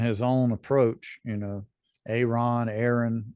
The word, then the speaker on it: Ayron: You know, Aaron, ever how you want to pronounce it. It's Ayron, but man. but but There's a Y you know, in there. I know there's a Y in there, but no, So I just